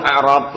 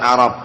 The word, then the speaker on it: i'rab: Kalau membaca babul i'rab lain lagi. Jadi yang sahih i'rab bukan a'rab, karena a'rab itu jamak dari a'rabiyun, badui.